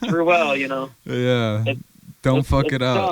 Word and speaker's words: Ruel: That's how you pronounce his last name. Yeah. If you ever meet me, it's Ruel, Yeah.